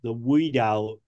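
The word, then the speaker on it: Oudin: Now, the picture you have on the right, which you call the Tesla multi-wave oscillator, I would consider more of that the Woodin, it's spelled O-U-D-I-N type of coil.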